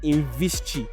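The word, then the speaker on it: Invisqi: Now the name of this guy was Imad Khaled and he was the CEO of Invischi is I N V I S QI but that QI is pronounced Chi.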